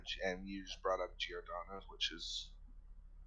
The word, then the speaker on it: Giordano: I'm pretty sure it's pronounced Giordano.